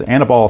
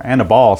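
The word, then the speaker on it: Aníbal: hill for the nationals is annabelle sanchez or anabol sanchez i think it's pronounced honor ball sanchez try to be accurate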